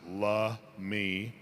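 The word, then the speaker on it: Lummi: before there were tribes before there was a lummy tribe in 1855 the point Elliot treaty uh they came up with the name Lummy uh pronounced lme uh you hear a lot of pronunciations because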